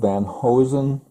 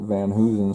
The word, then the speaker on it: Van Hoosen: And to me, this is spelled Van Hosen, but when I met his granddaughter, Beth Van Hoosen, she pronounced it Van Hoosen, so that's the way I'm going to pronounce it.